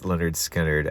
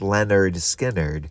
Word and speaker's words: Lynyrd Skynyrd: They named their band Leonard Skinnard after their high school gym teacher. And then producer Al Cooper decided, hey, why don't you guys call this album pronounced Leonard Skinnard because uh he had